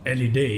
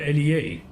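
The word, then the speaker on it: Elliðaey: that we just passed is not called LED as I've been pronouncing but rather Elie okay you learned something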